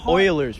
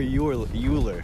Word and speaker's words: Euler: It's a hard word to say, but it's either Euler or Euler. Yeah, it's one or the other. It doesn't have an I in it, but that's how they pronounce it.